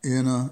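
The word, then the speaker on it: Jena: seven five and then gen it looks like jenna but it's pronounced inna e n a instead of j e a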